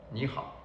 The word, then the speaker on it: 你好: 你好. So if you just follow, take notice of how I pronounce it, the kind of intonation that I'm just applying.